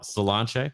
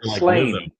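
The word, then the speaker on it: Sláinte: Yeah, Solanche, which if you can't remember salon chair. That's my tip for you. And just say Solanche.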